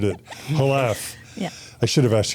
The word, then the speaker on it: Jalaff: Halaf. Oh my gosh, I totally butchered it. Halaf. Yeah, I should have asked you that first. Uh, and it's pronounced it's Spanish pronunciation, so I should have known it.